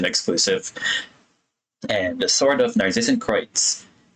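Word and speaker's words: Narzissenkreuz: I had no idea how that was supposed to be pronounced until Sandrone pronounced it in the non-Cry Archon quest, and I was like, I've been pronouncing it wrong the whole time. I was calling it Narcissan Cruise.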